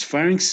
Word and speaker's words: pharynx: it sounds louder right then pharynx pharynx is like you pronounce it uh lower okay okay so any